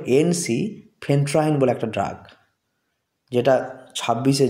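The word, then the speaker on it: ensifentrine: জেনে নেম হচ্ছে এন এনসি ফেন্ট্রাইন কেটে কেটে আমাদেরকে উচ্চারণ করতে হবে এনসি ফেন্ট্রাইন বলে একটা ড্রাগ যেটা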